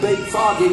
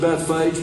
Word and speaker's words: Bethphage: And that was at Beit Foggy. We pronounce it Bethphage, but the house of figs is what it means.